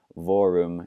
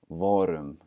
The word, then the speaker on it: vorum: So instead of saying vorum, you say vorum with that rolled R.